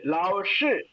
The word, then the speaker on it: 老师: pronounce பண்ணுங்க எஸ் அதேதான் லாவ்ஷு எஸ் லாவ்ஷு லிப் நீங்க எக்காரணம் கொண்டு அந்த SHI வரும்போது லிப்ப ரவுண்ட் ஷேப் கொண்டு வந்துடக்கூடாது வைட் ஓப்பன்ல இருக்கணும் லாவ்ஷு எஸ் எஸ் லாவ்ஷு எஸ்